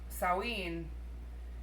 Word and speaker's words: Samhain: It's called Samhain, but everyone in the movie pronounces it Sam Hain. And someone even in the movie corrects them. And then they continue to say Sam Hain for the rest of the movie.